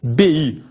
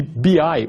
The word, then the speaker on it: BI: vez mais chamados de sistemas de bebê ou sistemas de bi ai usando a pronúncia do inglês sendo que biai são